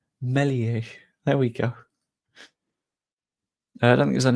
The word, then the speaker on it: Meslier: It'll be like when we first signed Melier, and everyone was like, Meslier. No. No. Stop pronouncing the S. Melier.